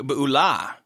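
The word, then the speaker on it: Beulah: leaving the land of Bula uh bua in actually bua it's an interesting thing about Hebrew the emphasis so often on the Ultima the last uh syllable and it makes things sound extra cool um so they're leaving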